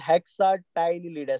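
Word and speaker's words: Hexactinellida: This is called as Calcarea, this is called as हेक्साटाइनलिडा। C silent रहेगा तो हेक्साटाइनलिडा आप याद रख लीजिए।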